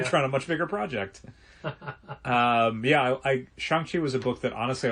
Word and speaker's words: Shang-Chi: It's Shang-Chi is how you pronounce it. Shang-Chi.